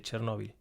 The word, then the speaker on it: Chernóbil: Vi un documental, creo que fue en Cuarto Milenio o algo así, sobre Chernóbil. O Chernobyl, como se pronuncia.